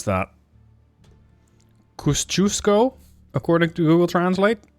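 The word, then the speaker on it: Kościuszko: I don't know how to pronounce that. Kosciuszko, according to Google Translate. Kosciuszko.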